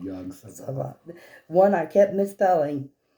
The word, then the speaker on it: Yog-Sothoth: If you remember, one of the entries mentions a connection to a being called Yog-Sothoth. One I kept misspelling. Not mispronouncing. I don't think you wrote it. No, yeah. Sothafog?